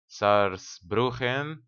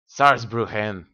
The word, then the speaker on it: Saarbrücken: And we're currently besieging wait, Saarbrücken. I believe that's how it's pronounced in German. You just have to pronounce it a little bit more angrier. Saarbrücken, maybe.